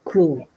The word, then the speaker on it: cool: Cool. Thank you. Same thing, everybody, with the word cool. Cool. There's actually a W. It's a diphthong.